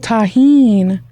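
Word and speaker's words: Tajín: did you get the name Tajin Queen just the like the ingredient yeah hmm but I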